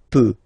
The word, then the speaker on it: peux: as usual, so je peux, okay? Final x not pronounced here, okay? So you get x, but you don't pronounce it, so basically you get the sound peut, je peux, okay, so I can, je peux, okay?